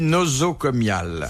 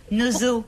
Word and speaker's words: nosocomial: Où attrape-t-on une maladie nosocomiale? C'est un rapport au nez. Noso. Nozo.